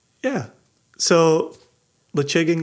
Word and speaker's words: Ledaig: Very simply, Lechig and Glenmurray. Damn it. So to translate what Jason said. Was that slow enough? Lechig, or lechig, some people say lechig.